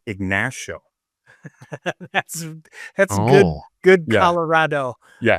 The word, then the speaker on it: Ignacio: It's funny because that's the actual correct pronunciation of the word in both Spanish and the Native American chief that the town is named after. Okay. However, the locals call it Ignacio.